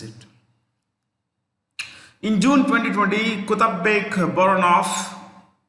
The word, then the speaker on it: Boronov: In June 2020, Kutabek Boronov, V is pronounced with an F, became the Prime Minister of Kyrgyzstan.